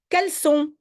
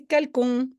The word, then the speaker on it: caleçon: Caleçon. Oui, il faut une cédille, sinon c'est calcon.